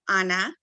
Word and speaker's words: Ana: Well, my name is Ana, and it's one N, so that's why I pronounce it Ana.